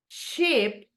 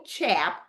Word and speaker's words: cheap: That is the correct pronunciation. And the opposite, not ugly, ugly, ugly. Then you have cheap, cheap, no chap, cheap, expensive, expensive.